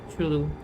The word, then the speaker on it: Entschuldigung: Entschuldigung, I should like, Entschuldigung. That is how you can know, I think, with the locals. So, like, Entschuldigung. It is a... Anki. The first part is almost never properly pronounced.